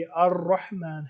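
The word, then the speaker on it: الرحمن: तो हम जब नॉर्मली हम जब कहते हैं तो ये अल है, वरना ये अर रहमान है और अर रहीम है। अलिफ और लाम इसमें साइलेंट है।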